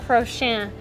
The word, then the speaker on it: Courchesne: So my French isn't very good, but her last name is Courchesne.